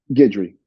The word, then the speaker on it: Guidry: Guidry, yeah.